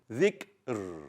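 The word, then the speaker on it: ذكر: So finally, we check the letter even before that letter, and because it has a kasra, we read the ra thin. Dhikr.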